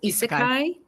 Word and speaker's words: isekai: Ooh, I want to make sure I'm pronouncing this correctly. Is it isekai?